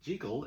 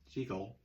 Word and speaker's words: Jekyll: As we found out last week in Edinburgh, Scotland, Jekyll is the correct pronunciation. So, even though it's a silent movie and it really doesn't matter how you pronounce anything when you're just pantomiming, the fact of the matter is, in Edinburgh, it's pronounced Jekyll.